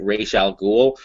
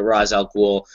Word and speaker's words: Ra's al Ghul: orig Janice O'Neal the creator of Ral ghoul pronounces it Ral ghoul but pretty much every uh live media adaptation Batman the Animated Series has pronounced it RZ elol I think Batman Begins pronounced it R did